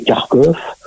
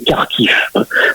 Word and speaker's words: Kharkiv: Kiev, je précise à chaque fois, il y a les 2 orthographes, faut pas oublier que l'orthographe russe fait prononcer le Lvov, Kiev et Kharkov, et donc en ukrainien c'est bien Lviv, Kiev et Kharkiv.